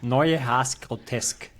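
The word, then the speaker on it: Neue Haas Grotesk: How should it be pronounced? Neue Haas Grotesque.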